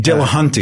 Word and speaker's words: Dillahunty: Dillahunty.